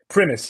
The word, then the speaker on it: Primis: Or Primis? Yes, it's Primis, not Primis. It's just Primis. You know, it comes from Latin.